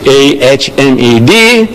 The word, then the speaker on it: Ahmed: So I tell her, my name is Ahmed Deedat. She says, spell it. So I started spelling it. A-H-M-E-D, Ahmed, D-E-E-D-A-T, Deedat.